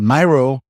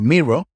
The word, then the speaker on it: Miro: about is Myro and Myro or mirro depending how you say it offers $1,000 in credits